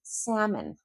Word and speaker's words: salmon: So if you're ordering lamb, that B is always silent. If you're ordering salmon, that L is always silent.